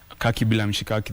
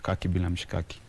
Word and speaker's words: Kaki Bila Mshikaki: So Kaki Bila Mshikaki, the first Kaki rhymes with the last Kaki, so it's poetic. Kaki Bila Mshikaki.